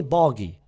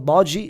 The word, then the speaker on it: Bardghji: 2.5 million for Ronny Bari. Some people pronounce bargi. It's not bargi in Denmark. They pronounce bari.